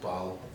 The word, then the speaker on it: Basel: And the team we were playing used to be called Bal, and now called Basel, even though it's spelled exactly the same way.